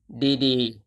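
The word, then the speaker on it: ดีๆ: For example, this word is read as DD.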